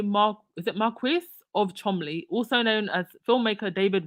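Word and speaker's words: Cholmondeley: the Queen's companions Lord Oliver chomely I believe that's how you say it thirteen son of the Mark is it Marquis of Chumley also known as filmmaker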